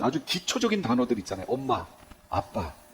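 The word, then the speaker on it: ἀββα: 예, 아바, 아버지. 여기 아바가 이게 스펠링이 어떻게 되냐면요, 알파, 베타, 베타, 알파예요. 그러면 뭐예요? 정확히 발음하면 아빠가 되는 거예요.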